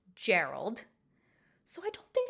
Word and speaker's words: Geralt: make the statement that in the english language this name is pronounced gerald so i don't think